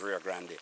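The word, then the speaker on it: Rio Grande: that we're here which is rafting on the rear Grande because this is one of the biggest river in Jamaica one the most the river that um pronounced rafting in Jamaica is RAR Grande so this is one of our what was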